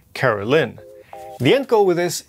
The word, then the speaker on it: Caroline: This is Caroline or I guess technically pronounced Carolyn.